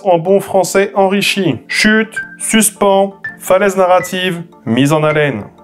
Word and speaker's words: suspens: Eh bien, ça peut sembler paradoxal, mais c'est le second mot qu'il faut utiliser, mais prononcé à la française, et donc écrit sans le E. Sinon, ça ferait suspense, et ça, bien que